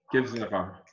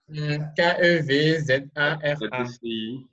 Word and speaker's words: Kevzara: Et donc, ça s'écrit comment? Kevzara. Kev, comme K-E-V. K-E-V-Z-A-R-A.